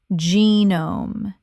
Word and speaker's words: genome: Genome. 2 syllables. The G makes a J sound and the E is long.